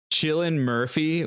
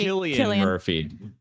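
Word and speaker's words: Cillian Murphy: the scenes Vibe um also chillan Murphy what's his name selan Murphy how do you pronounce thatan Murphy Killian Murphy that's what he looks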